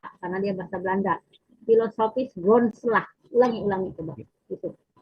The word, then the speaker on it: Philosophisch grondslag: Philosophisch grondslag.